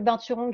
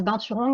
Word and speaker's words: binturong: Alors, la prononciation, moi, je le prononce juste à la française, binturong, mais quand vous allez en Asie, c'est binturong.